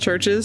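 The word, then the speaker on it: CHVRCHES: a song from churches with the V instead of EU I saw that in the way how do you say that and name is churches it just churches yeah just say it churches this be as a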